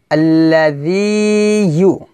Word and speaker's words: الذي: আল্লাযী। এখানে আল্লাযী হবে না, কি হবে? জি জালিয়া যে জি। এখানে আমরা জিহ্বার আগা উপরে দাঁতের আগার সঙ্গে লাগিয়ে এই জাল উচ্চারণ করব।